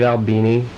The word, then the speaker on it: Albini: On Flower Plower, you had two producers, Steve Albini, is that how you pronounce it?